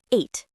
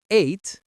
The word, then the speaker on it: ate: The pronunciation of eight is exactly like the number eight.